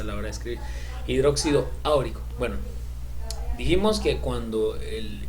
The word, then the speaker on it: áurico: Este es oro, y no se dice auroso ni no se dice oroso ni órico, no, se dice auroso o áurico, ¿verdad?